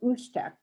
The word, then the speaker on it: usteq: It's part of our Alaska Hazard Mitigation Plan, and it's called UStek, which is spelled USTEQ.